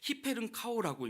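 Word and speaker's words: ὑπερνικάω: 헬라 원어로는요. 히페른카오라고 읽는데요.이 넉넉히 이긴다 이렇게 우리가 번역했지만이 본말은 이렇게 얌전한 말이 아닙니다.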